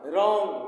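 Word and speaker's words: wrong: डब्लू आर ओ एनजी W silent इर हो गया इसलिए इसका सही प्रोनंसिएशन हो जाएगा रंग रंग मीस गलत ए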